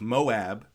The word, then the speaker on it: Moab: Biblically, Moab is the land descended from Lot's son or the Moabites who were the sometimes the Moabites, not the Moabites. The It's Moab and Moabites.